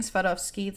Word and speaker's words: Swarovski: Side note, I am pronouncing Swarovski that way because that's how I would pronounce it in Polish, and I'm not sorry if it bothers anyone, but anyway, back to the topic at hand.